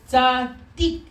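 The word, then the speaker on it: צדיק: So it becomes tzad dik, which we would just pronounce Daddy. tzadik.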